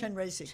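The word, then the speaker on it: Chenrezig: Chenrazi Chenra character or that aspect is can you talk about well Chenresi is incredible compassion just always weeping and the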